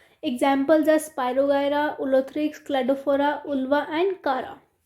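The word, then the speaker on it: Chara: करा. दिस कारा is pronounce as कारा. तो हम बोलते हैं ना करा कारा, तो उससे यू कैन मैच दिस.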